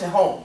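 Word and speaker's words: תהום: or it's spelled T-T-H-H-O-M. Mm-hmm. It's pronounced tehom, mm-hmm.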